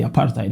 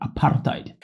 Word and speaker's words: apartheid: Yes, I like to pronounce it that way, apartheid, because that's how I hear my South African brothers and sisters pronounce the word apartheid.